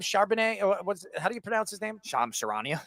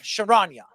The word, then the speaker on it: Shams Charania: How do you pronounce his name? Shams Charania. Shamrania, whatever his name is. How do you pronounce it again? Shams Charania. Charania.